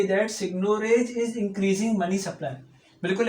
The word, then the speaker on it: seigniorage: यानी ये आपकी इक्वेशन है सिग्नोरेज की, सिग्नोरेज कहते हैं, वैसे प्रोनाउंस सिग्नोरेज करते हैं।